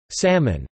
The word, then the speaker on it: salmon: For example, salmon is usually pronounced with a distinct L.